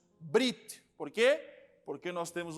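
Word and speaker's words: בְּרִית: Ninguém diz Berit, nós dizemos Brit.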